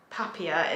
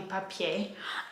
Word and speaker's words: Papier: a brand called papi it can't be pronounced papia it must be papier and um i've actually